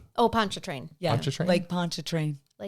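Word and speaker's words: Pontchartrain: cases and there's the R is kind of silent. Yeah. Poncho train. If I didn't hear you say it earlier, I would have said the R.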